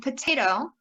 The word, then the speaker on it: potato: So in potato, it's te. Second, you want to select the color and keyword that matches with that primary stress syllable. In this case, it's gray day.